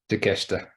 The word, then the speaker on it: Takeshita: He's got Mustafa Ali, Claudio Castagnoli, Wheeler Yuta, that Japanese guy that you're going to pronounce for me. Takeshita.